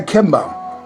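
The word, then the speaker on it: Kimborowicz: a and a and he goes by Kim Bo but it's spelled K I am b o r o w IC z and he's got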